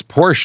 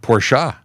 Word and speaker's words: Porsche: yeah um oh in in Brazil it's Porsche not porsa interesting in Brazil that